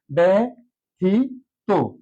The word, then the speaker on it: ব্যতীত: কার রস ইকার ওকার সঠিক উচ্চারণ বেথিত কারণটি বলেছিলাম শুরুতে যদি জ ফলা থাকে এবং পরে বর্ণটি যদি রসকার বা দীর্ঘ ইকার দ্বারা যুক্ত থাকে তাহলে অবশ্যই প্রথম যে জ ফলাটা আছে এই জ ফলার জন্য চলে আসবে একার